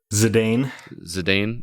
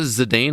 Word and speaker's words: Zidane: Zidane. Do you pronounce it Zidane?